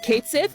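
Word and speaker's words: Cait Sith: um I will say Kate Sith which is the official pronunciation and not catchy Kate Sith it's an adjustment I'll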